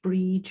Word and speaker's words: Brid: My name's pronounced Brid, but that's not such a big deal. It's Irish.